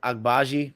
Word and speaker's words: Agbaji: that the Cavs drafted from Kansas oh shy agbaji I really understand it right you're saying it